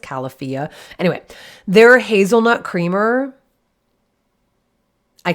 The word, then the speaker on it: Califia: califia I think it's califia cuz I think the idea was that it's California so it's pronounced califia anyway they hazelnut creamer